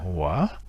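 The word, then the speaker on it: hỏa: Et le feu en vietnamien ancien ou bien classique se prononce Hoa, avec un H-O qui se prononce comme un O, et A, Hoa, qui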